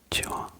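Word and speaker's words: こんにちは: Kitawa conwaitiwa conwaitiwa c'est ça en fait il y a de N c'est bien conit roi et la plupart des gens bon la plupart des gens ne le connaissent pas mais le prononce un peu trop rapidement en sautant le premier N.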